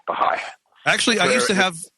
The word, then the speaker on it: Baha'i: It's spelled B-A-H-A, then there's an apostrophe I, Baha'i.